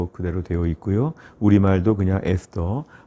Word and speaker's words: 에스더: 명칭에 대한 부분을 보시면 히브리어로는 에스텔이라고 발음을 합니다 또 영어로는 에스라 그대로 되어 있고요 우리말도 그냥 에스터 어 본문의 주인공 사람